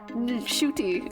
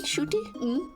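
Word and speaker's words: Ncuti: and he said that his mom called him I was like what you you don't you're pronouncing your name wrong shoy like it's you're supposed to pronounce the N cuz she saw him give a different interview where he said that the end is silent but appar yeah that's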